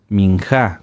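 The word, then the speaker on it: מִנְחָה: oblación o de granos que se llaman minja minja con acento en la sí las ofrendas de paz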